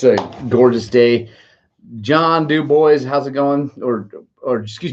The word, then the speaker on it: Dubois: So, Joel, there's a town in Wyoming that is spelled like that. But it's Wyoming, so it's Dubois. It's Dubois, Wyoming.